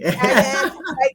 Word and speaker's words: Kayin: I said it right, Kayin Queeley. I said Queeley. Cayenne, like cayenne pepper there.